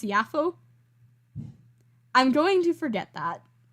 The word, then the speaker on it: Jaffa: cat you looked at the Wikipedia page for Jaffa and it's actually pronounced yafo I'm going to forget that I'm going to